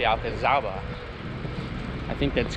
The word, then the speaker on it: Alcazaba: being here 2 years, because in Spanish you pronounce the Z with the th sound, so it would be Alcazaba, but you pronounce the Z, I guess, because it was from the Moors, so that's where the name came from. So you say Alcazaba.